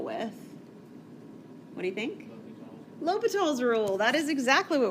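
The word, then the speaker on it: L'Hôpital: even said it right i can't tell you how many people look at this and tell me it's the hospital it is not the hospital it's l'hopital's rule l'hopital's rule you've seen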